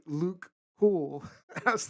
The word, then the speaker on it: Luc: to pronounce it um so it's french but it's actually just luke cool now the one